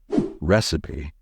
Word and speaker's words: recipe: And here's the correct way to say this word. Recipe. A recipe is a list of ingredients and instructions that tell you how to cook something, like a recipe for an apple pie. Never pronounce it as recipe or recipe.